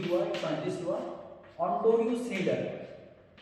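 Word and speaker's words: Snider: एक साइंटिस्ट हुआ, ऑन्टोनियो स्नीडर। स्नाइडर भी कह देते हैं, स्नीडर भी कह देते हैं इंग्लिश प्रोनाउंसिएशन की वजह से।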